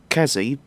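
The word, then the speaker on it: Qazzy: you want to learn more about s traits kazzy that's spelled q a z z y as he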